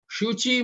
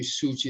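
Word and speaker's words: सूचि: Ata, excuse me, shuchi mukho, so this should be suchi, there should be a long u here.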